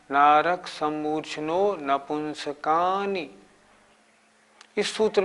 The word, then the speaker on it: नपुंसकानि: नारक सम्मूर्छिनो नपुंसकानि, नारक सम्मूर्छिनो नपुंसकानि, नारक सम्मूर्छिनो नपुंसकानि। नारक सम्मूर्छिनो नपुंसकानि। इसके उच्चारण में भी नपुंसकानी नहीं बोलना, नपुंसकानी।